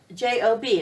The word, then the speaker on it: Job: the book of Job it's spelled J OB EU Jo B it looks like the word job but it's really the name of a man named job and job was one